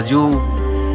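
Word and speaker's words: 鱼: viết là như và được phát âm là du và phát âm từ cá chép trong tiếng Hán đồng âm với dư trong dư dạ nên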